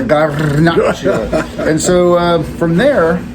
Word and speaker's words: Garnacha: And so originally it's called Garnacha. Roll your R's. And, Garnacha. Yeah, Garnacha.